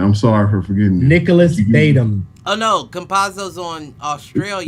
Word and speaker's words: Batum: I forgot it's pronounced Batum.